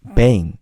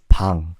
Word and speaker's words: 방: The way English pronunciation is they accent the A. So the common mistake that people make is bang. But you guys have to know, it's not bang, it's bang.